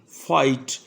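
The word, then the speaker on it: fight: کے تو اس میں جی ایچ علیحدہ سے کوئی ساؤنڈ نہیں دیتا، ایف آئی جی ایچ ٹی، فائٹ، ایچ آئی جی ایچ، ہائی۔ اسی طرح جی یو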